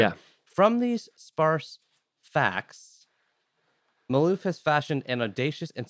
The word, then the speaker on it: Malouf: David Malouf.